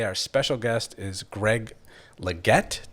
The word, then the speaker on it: Legette: And today, our special guest is Greg Legette. Did I say that correctly? You Greg did, Legette.